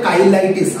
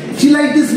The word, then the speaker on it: cheilitis: উচ্চারণটা হবে কাইলাইটিস, আবারও বলছি। ঠিক আছে, চিলাইটিস ফিলাইটিস কিন্তু বলতে যাও না, কাইলাইটিস, CHEILITIS, মানে ইনফ্লামেশন, কাইলাইটিস।